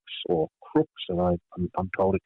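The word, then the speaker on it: Crux: southern constellations such as the Southern Cross or Krux or Crooks as I I'm told it should be properly pronounced in Latin.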